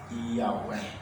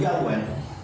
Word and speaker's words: Yahweh: Mas o tetragrama, o nome de Deus, uma pronúncia mais ou menos é Yahweh, né? O nome de Deus seria Yahweh.